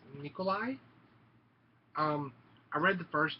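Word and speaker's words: Nicolae: Left Behind Tribulation Force I'm about 100 sure that this is pronounced Nikolai um I read the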